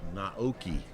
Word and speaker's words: Naoki: They corrected my uh pronunciation. It is Naoki is his first name 52.